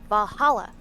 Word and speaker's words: VA-11 HALL-A: The name sounds silly and a bit hard to pronounce. Good thing it's actually called Valhalla. The funny numbers and letters are just a code.